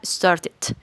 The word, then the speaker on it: started: verbo regular Pues sencillito esta última partecita el final del verbo vamos a pronunciarlo ID ID como Lo acabamos de ver Arribita entonces quedaría started o en inglés americano started en otras palabras el final se va a pronunciar como una sílaba más es decir esta e